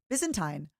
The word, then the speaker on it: Byzantine: Tine tine, not time. Byzantine.